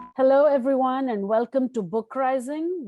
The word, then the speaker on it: BookRising: Hello, everyone, and welcome to BookRising, which rhymes with uprising.